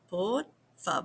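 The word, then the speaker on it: por favor: So, a lot of people pronounce the V like a B, but don't overdo that either. So, poor fab poor.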